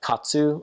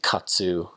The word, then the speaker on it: katsu: One of my favorite things was katsu. I mean, Americans say katsu kind of strongly. You can find that at like kind of islander type restaurants here. We would just say kats, like chicken kats, pork kats, tonkatsu, like different things like that.